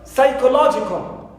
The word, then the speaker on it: psychological: Also for the word psychological, so here also law is the stressed syllable which takes the primary stress. So I count 2 syllables before it. So I have ko is number 1, it's not, and psi is the second syllable for the primary stressed syllable. So psi is the syllable which takes the secondary stress.